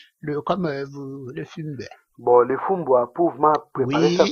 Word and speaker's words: fumbwa: Donc moi ce que je lis c'est Fumbua. Voilà, Fumbua. Alors Ah, Fumbua. ah, les Fumbois. Pardon, j'étais sous boule. J'ai Les mal Fumbois. prononcé? On dit les Ah, Fumbois.